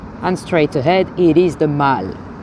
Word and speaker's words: The Mall: And straight ahead, it is the Mall. The Mall, not to be pronounced the mall, it's the Mall. Although sometimes people say the mall anyway.